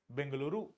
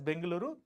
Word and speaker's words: Bengaluru: this then Bangalore and Hyderabad the answer is bangaluru Bangalore now we pronounce it as bangaluru it is bangaluru right so you can see